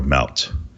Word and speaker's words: MLT: So originally MLT, or which I will now pronounce just Melt from now on, it